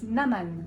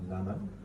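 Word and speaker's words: Naâman: And how do you pronounce the artist singing Carmen? So it's Naman. Naman, and Yeah.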